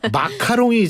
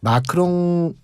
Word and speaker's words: 마크롱: 저는 이 마크롱 대통령 얘기할 때마다 내가 발음을 제대로 하고 있는 거죠. 왜냐하면 마카롱이 자꾸 나와요. 아, 그러게요. 마카롱 좋아하세요? 좋아합니다. 예. 다음에 한번 저희가 마카롱과 마크롱 큰 차이가 있죠.